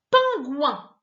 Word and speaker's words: pingouin: Je fais un peu cette drôle de tête parce qu'en fait, pingouin, tu verras, ça s'écrit pas O-I-N à la fin. Mais par contre, à la fin, ça se prononce bien g-ouin. Pingouin.